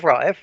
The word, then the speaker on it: Raif: Yeah, it's two syllables. Raif. Try. Raif.